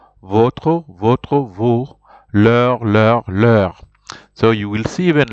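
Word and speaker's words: leurs: notre, nos, votre, vos, leur. So you will see even leur there. It's written, the plural form is with an S, but you see you don't pronounce the S.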